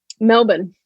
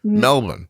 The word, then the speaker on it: Melbourne: should I have said Melbourne you just swallowed like five of the letters just so you know just so you went Melvin did I get closer